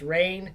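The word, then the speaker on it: Rayn: I'm usually embarrassed because my name is actually spelled r a YN and it's rain it's counselor rain that's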